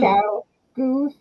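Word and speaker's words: ChiaoGoo: Chow Goose.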